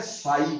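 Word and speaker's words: psi: सबसे पहले हमें समझना है साई क्या है। हम what do you mean by साई? बेटे साई को ऐसे लिखते हैं पसाई, है ना जी, ई साइलेंट है।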